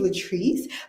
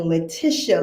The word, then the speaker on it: Latrice: My name is Latrice, but I have gotten Leticia. Latricia. Latricia.